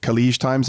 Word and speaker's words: Khaleej Times: under the affiliate product, still allows, is it Khaleej Times? Am I pronouncing that correctly?